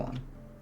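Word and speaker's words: を: uh particle represented by WO is actually pronounced as O instead of W.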